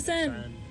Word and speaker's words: Seine: The Seine. I say it like that, I realized, because of Mamma Mia, when he says, where he sings, walks along the Seine, laughing in the rain.